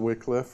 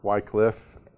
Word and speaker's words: Wycliffe: to talk for a few minutes about John Wickliffe or Wycliffe it's spelled and pronounced different ways but he was